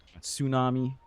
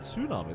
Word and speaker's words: tsunami: Tsunami. Oh, that was a good one. You didn't say tsu that one. That's very good. You said tsunami.